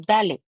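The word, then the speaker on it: ballet: एन हम pronounce नहीं करेंगे, तो फ्रेंच का कोई वर्ड बोलते हैं तो बेसिकली लास्ट का जो लेटर होता है वो कभी प्रोनाउंस नहीं होता। अगर हम फ्रेंच प्रोनाउंसिएशन बोल रहे हैं तो दैट इज बैलेट।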